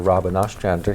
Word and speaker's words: Robyn Ostrander: Brattleboro Retreat and we're pleased to have Dr Robin asander here did I get your name right you